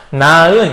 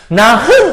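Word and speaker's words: 낳은: 나은 이렇게 발음을 하죠. 나흔 이렇게 발음하지 않아요.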